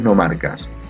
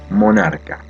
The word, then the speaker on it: nomarca: Egipto después aparecen los nomarcas los nomarcas son la palabra es nomarca no es monarca está bien escrita y está bien pronunciada la palabra nomarca viene